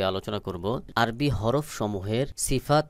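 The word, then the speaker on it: ث: চারের ভঙ্গি চার রকম এই সা আওয়াজটা একেবারে পাতলা করে উচ্চারণ হবে বাহিরের দিকে বাতাস বের হবে সহি উচ্চারণ হলো সা আলিফ বা তা সাপ রয়েছে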